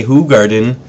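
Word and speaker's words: Hoegaarden: didn't blog it was the Ho Garden AKA who Garden pronounced correctly and um weren't big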